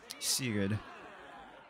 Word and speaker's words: Sigurd: Father asked me, Sigurd. Suit yourself. Oh, fuck. I actually pronounced it right. I said it lazily. I didn't want to say it the way I wanted to say it. Sigurd.